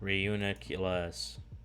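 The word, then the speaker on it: Reuniclus: one more time so we don't forget reuniclass reuniculus that's it i challenged cairo to a battle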